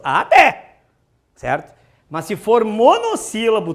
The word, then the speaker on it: até: Até tem 2 sílabas. Até.